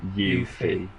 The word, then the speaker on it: Yuffie: And D said he thought I meant from the demo, but the full game it's It's Yuffie. right. So, you know Yuffie, yeah. Yes, yeah, yeah. I didn't want to pronounce it wrong.